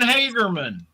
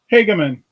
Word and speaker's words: Hagemann: talking about so Ian Hagerman is that how you pronounce it hagaman there's no R in itot people do that yeah H